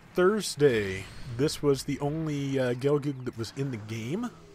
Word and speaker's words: Gelgoog: pronouncing that very well I usually go with gelgoog because you know the double-o like book so that's what I go with personally but yeah it's uh